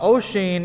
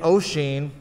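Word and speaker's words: Oisín: and neve kinnor uh ocean is spelled o s i uh o s o i n it's an irish uh spelling uh and neve is spelled n-i-a-m-h it's it's not a phonetic language uh neve kennar is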